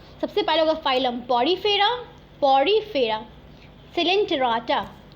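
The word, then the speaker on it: Coelenterata: देखो क्या होता है, सबसे पहले होगा फाइलम पॉरीफेरा, सिलेंटेराटा, ओ साइलेंट है, टेनोफोरा, प्लैटीहेलमिन्थिस, एस्केलेमिन्थिस, ठीक है, Annelida, arthropoda, Mollusca, Echinodermata, हेमिकॉर्डाटा, last में कॉर्डाटा।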